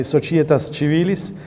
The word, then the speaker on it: societas: have the the the Italian Church um pronunciation so I would say sochitas respublicas this is very